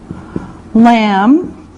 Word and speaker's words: lamb: Lamb. Lamb. Now remember, the B is silent. No sound, just lamb.